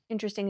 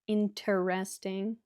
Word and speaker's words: interesting: Interesting is a long adjective. This has 4 syllables. You can pronounce it interesting, 4 syllables, or interesting, 3 syllables.